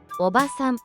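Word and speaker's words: おばさん: 오바산, 아줌마. 이 단어는 오바산이라고 짧게 발음합니다.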